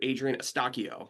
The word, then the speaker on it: Adrian Eustaquio: Adrien Estakio.